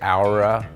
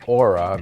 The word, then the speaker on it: OURA: donor's new hour line I'm going to say houra instead of Aura because it's O Ur a I think that's how it's pronounced so this is the